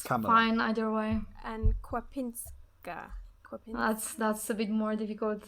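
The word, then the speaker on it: Kwapińska: but you say basically Kwapinska. So the N is like really soft, I would say.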